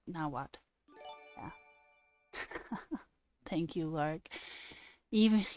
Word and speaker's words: Nahuatl: Nahuatl. So you have to say the tl, not the tl, like Nahuatl, like that.